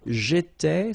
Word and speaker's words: étais: J'étais, so final S not pronounced.